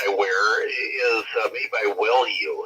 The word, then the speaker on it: Wellue: Well, if you want to see what's going on, the device that I wear is made by Wellue. It's spelled WELLUE, Wellue, and it's an O2 monitoring ring.